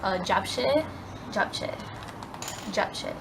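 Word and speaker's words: japchae: uh-huh so I went ahead and got some job jack yeah that's how you pronounce it obviously without the meat and it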